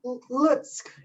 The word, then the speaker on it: Lutsk: Is it Lutska? Am I pronouncing it correctly? Lutsk, yeah, Lutsk, which I think now is in the Ukraine, maybe?